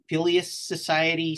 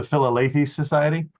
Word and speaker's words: Philalethes Society: single mention of something, and I'm going to pronounce it wrong, called the Phileas Society, something like that. You guys would know the correct pronunciation. The Philalethes Society?